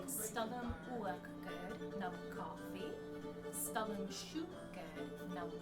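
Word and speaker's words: uachdar: And the way that you say cream in Gaelic is uachgad. So that's uachgad, that's cream.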